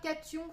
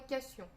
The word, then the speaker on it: cation: Vous pouvez dire soit cation, soit cation. Il y a plusieurs façons de prononcer.